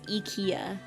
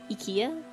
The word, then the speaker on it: IKEA: am one with the Ikea I do not fear getting lost in its hallways in German it's e it's eeka Ika I wonder what it's like